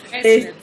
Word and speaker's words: Faesler: Hola Carla Fessler, o Faesler, no sé cómo se dice tu apellido. Fessler. Fessler, ok.